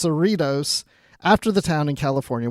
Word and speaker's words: Cerritos: they're saying the USS Saratoga and whatever they pronounce it but it's Cerritos after the town in California which we mentioned